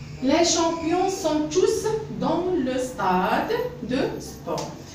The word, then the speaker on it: tous: Oui, dans ce cas-là, je vais prononcer tous. La lettre S. Les champions sont tous dans le stade de sport.